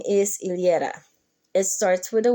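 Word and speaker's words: Yllera: then the LA but the last name is ilera it starts with a y it's originally a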